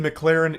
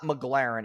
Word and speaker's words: McLaren: The McLaren isn't rented.